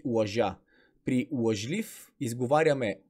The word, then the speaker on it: лъжлив: проверим лъжлив е лъжа и нека да не забравяме при лъжлив ударението пада при ито и затова ъ-то се чува като а следващ пример сладкар